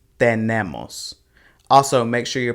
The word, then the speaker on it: tenemos: same here with the it's not ten nemos it's tenemos also make sure you're